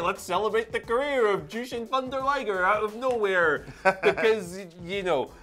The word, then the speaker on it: Jushin Thunder Liger: legends let's talk about Justin the Thunder Tiger people can get really annoyed just by that mispronunciation Jushin Thunder liger seemingly his Hall of